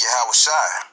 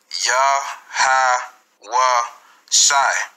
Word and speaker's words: Yahweh Shai: The correct pronunciation is Yahweh Shai. Yahweh Shai.